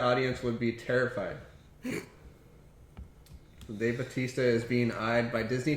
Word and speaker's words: Bautista: Bautista. Bautista. Bautista. That's how you're supposed to say it. When people say Batista.